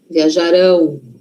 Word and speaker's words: viajarão: E o futuro? Futuro não é lá na frente, então a sí forte tá lá na frente. Viajarão, viajarão.